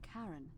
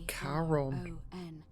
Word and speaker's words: Charon: It's just as you described it, only your pronunciation is a little off. The name you heard wasn't Karen. It was C-H-A-R-O-N. Oh, Charon.